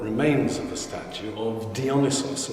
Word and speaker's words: Dionysos: of the Statue of dionysos as the Greeks pronounce it diis and it comes from